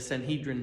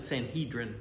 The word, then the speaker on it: Sanhedrin: Then they had the ruling group called we pronounce it Sanhedrin, but the E is not necessarily long in the Hebrew pronunciation. They called it Sanhedrin.